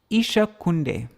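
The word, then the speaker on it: Īśa: I will reside where isak so Isa Isa Isa with a short a at the ends it refers to the Lord and Isha with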